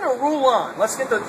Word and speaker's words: Rulon: We're here at the harbor, and I've got, is it Rulon or Rulon? Let's get the spelling and the pronunciation right. It's R-U-L-O-N, and it's actually Rulon Gardner.